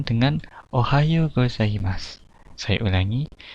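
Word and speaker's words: おはようございます: Nah, di Jepang pagi hari itu diucapkan dengan ohayo gozaimasu. Saya ulangi, ohayo gozaimasu.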